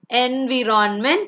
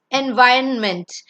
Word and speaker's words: environment: The next one is not environment, it's environment.